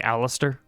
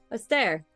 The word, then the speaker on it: Astair: Did you just call me Alistair? Astair.